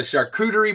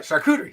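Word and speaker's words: charcuterie: So, the shakuderie board or however you pronounce Yeah, that's how you say it. All right, shakuderie.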